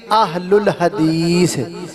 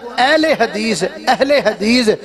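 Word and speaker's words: أهل الحديث: بن دیئے اہل الحدیث پہلے تے آپا نام ایک تلفظ اپنا ٹھیک کریے اجڑا لفظ آپا بولنا اہل حدیث اے چلو اپنی زبان اندر تے دی گنجائش ہے اردو اندر ہے پنجابی اندر ہے لیکن عربی میں اہل حدیث کوئی لفظ نہیں ہے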